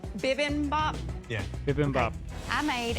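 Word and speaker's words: bibimbap: of humor about it sorry can you tell me how to say it correctly bibin bop bibin bop yeah bibm Bop I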